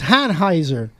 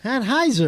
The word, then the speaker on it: Anheuser: It's Hanheiser. Anheuser. Hanheiser? Anheuser.